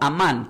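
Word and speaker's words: אמן: Y del hebreo se pronuncia como amán, como suena, A-M-A-N.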